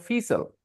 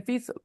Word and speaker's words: fecal: So those people who are listening to him, maybe they will learn Fiesel because he is saying Fiesel. All right. But I and Aditi, who's only 15, we both know it was fecal.